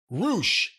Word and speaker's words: Rush: I heard on TV, his theme song seems to be Roosh, Roosh, Roosh. So they just say his name over and over again. It's Roosh. Well, I was rushing to get through this.